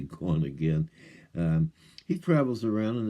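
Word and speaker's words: GonAgain: a i n so originally I thought it was gonan or some sort of weird name but it's actually gone again um he travels around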